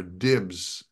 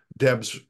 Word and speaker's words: Debs: of the actors mispronounced mispronounced the name Debs I think he said Debs or dibs at one point and so I just took Debs that he had said correctly from somewhere else and